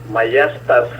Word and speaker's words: maiestas: Maiestas é S final, tem S final, maiestas.